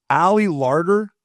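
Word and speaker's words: Ali Larter: Ally Larder, that's how you say her name.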